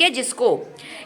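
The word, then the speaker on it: whose: ठीक है? जिसको इसके बाद तीसरा बनेगा हूज। क्या बनेगा? हुज। अगर आप एच ओ एस ई में डब्ल्यू ऐड कर दीजिए तो एक नया शब्द मिलेगा हूज।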